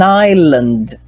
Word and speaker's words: island: Is an island. Be careful, hein? Let me put it here. Olha só. Island. Island. Ilha, ela é um S mudo. Então, cuidado com isso. Ó, island. Esse Szinho, ele é mudo, ok?